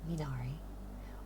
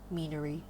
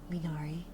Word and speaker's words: Minari: It's Minari. Or Meanery. I've had people call me Meanery. And it's like, your emphasis is on the wrong syllable. Minari. So, Minari.